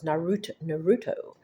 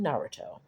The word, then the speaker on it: Naruto: Just like when my kids and I thought Naruto was Naruto, and we found no, it's actually Naruto. We were putting the accent on the wrong syllable.